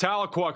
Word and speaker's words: Tahlequah: You pronounced Tahlequah correctly.